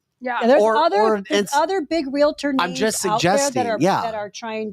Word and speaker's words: realtor: and not be a realtor that's how they say it realtor and not realator but the the point